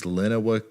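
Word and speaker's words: Lenawee: point you will say my county and city name wrong it's Lenova County to come see Tecumseh Michigan here's your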